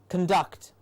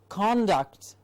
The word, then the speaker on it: conduct: conduct means your behavior so if you have the sound of or and you say conduct it means your behavior and if you say conduct it means making something happen conduct he was conducting